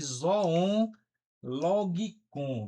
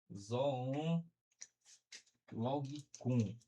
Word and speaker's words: zoon logikon: O homem como um animal racional, que ele chama isso de zoon logikon, viu, gente? Zoon logikon.